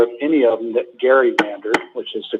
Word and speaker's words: gerrymandered: I'm not aware of any of them that gerrymandered, which is the correct pronunciation.